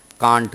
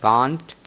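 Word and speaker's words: can't: जब कॉन्ट्रैक्शन बनाते हैं कांट करते हैं, क्या करते हैं, कांट या कैंट, है ना, दोनों हम प्रोनाउंस करते हैं, ठीक है।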